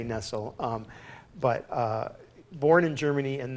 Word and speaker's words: Nestlé: Henri nestlé german-born so we're pronouncing I'm pronouncing it incorrectly it's Nestle mad Nestle well I'm not sure of the Swiss pronunciation but I say Nestle but born in Germany